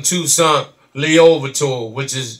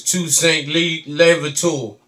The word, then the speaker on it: Toussaint Louverture: Y'all call him Toussaint Louverture, that's not the correct pronunciation. You know, it's Toussaint Louverture.